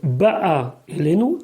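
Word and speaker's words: בָּאָה אֵלֵינוּ: Ba elenu, faut dire ba'a elenu, ta'amo bebet, l'accent tonique il est sur la première partie du mot ba'a elenu, les filles chez ubelashon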